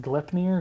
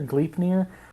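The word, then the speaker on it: Gleipnir: is uh the rope i think it's pronounced glyph near gleefnir which in in mythology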